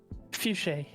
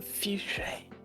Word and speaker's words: fuchsia: Fuchsia. No. Just put that, but don't over pronunciate the A. So fuchsia. No, not fuchsia. Fuchsia. Fuchsia. No. You're doing like a capital A, fuchsia. Do a little A.